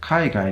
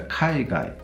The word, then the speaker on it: kaigai: Now, if I take the kaigai and pronounce it in an English way, I get kaigai, right? Oh, what a kaigai, as in shy guy or something like that.